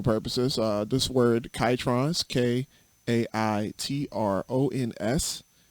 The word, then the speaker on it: Kaitrons: uh this word chitrons k a i t r o n s it's pronounced kaitrons not catrons uh not ketones uh not croutons nobody